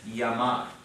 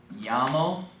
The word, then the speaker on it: llamar: Now, look at the next one on the list, llamar. And remember, the double L is pronounced like a Y, not like our English L. And so we'll do another one. It's going to be llamo, llamas, llama, llamamos, llama.